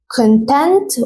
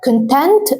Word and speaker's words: content: هو تعليم الانجليزي لكن لو غيرنا النطق وقلنا كونتنت قولوا ورايا كونتنت هتركز على الجزء الثاني هتضغط عليه اكثر كده تحس زي ما بنقول في العربي في شده كده شويه وان انت تكون